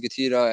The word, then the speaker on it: GETIDA: What's GETIDA? Is it GETIDA? Is it GETIDA? How do you say it? It doesn't really matter. It's just an acronym. It's GetIDA, which means Get Intelligent Data Analytics.